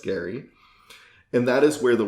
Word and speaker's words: Gerry: name is spelled g-e-r-r-y so he was often pronounced jerry instead of gary but it's actually pronounced gary and that is where the word gerrymandering comes